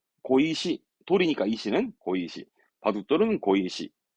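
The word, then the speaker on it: 碁石: 발음은 고방 바둑판은 고방 바둑판은요 그렇죠 바둑돌이 되겠네 발음은 고이시 돌이니까 이씨는 고의식 바둑돌은 고이시 고이십니다만 요정도 시험적으로는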